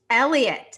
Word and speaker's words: Heliot: ramos say it again elliott spelled heliot pronounced elliot for the giants he's their number three prospect he's in double a he was their first round pick in 2017.